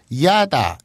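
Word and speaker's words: いやだ: 근데 이거를 이야다. 싫다. 뭐 그런 뜻이에요. 예. 근데 야다, 이야다, 이야다 이걸 발음을 빨리 하면 예. 야다 이렇게 되죠.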